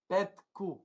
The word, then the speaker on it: Petcu: Petku.